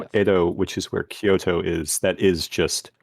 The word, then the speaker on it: Kyoto: Yeah, Kyoto It's two syllables. You swap them, and it becomes Tokyo.